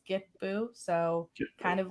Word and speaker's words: Kitpu: those languages um where like the k makes a g sound it's not it's not the way that it's spelled so it's get boo so kind of like